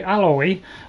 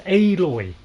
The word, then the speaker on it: Aloy: out aloy and and most Americans say alloy but that's got two L's in it this has got one so it's aloy okay and then they